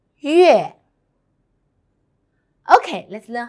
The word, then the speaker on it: 月: 月, 月. Actually, it's 鱼 and 鹅 together. 月 first time. 月月月 very good. Now let's write together. First one. 撇横折勾横横月 Okay, let's learn how